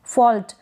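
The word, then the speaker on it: fault: और ये जो एल आ रहा है टी से पहले, इसको टी को तो ट पढ़ रहे हैं, एल को आधा ल प्रोनाउंस कर रहे हैं। आप यहाँ पर देख सकते हैं फॉल्ट। अगर इसको पूरा पढ़ेंगे तो फॉल्ट पढ़ेंगे तो ये गलत हो जाएगा।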